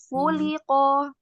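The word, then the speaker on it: خُلِقَ: Kemudian di sini juga ya di huruf khu. Nah ini di di harakat domahnya harus sempurna. Khuliqo coba.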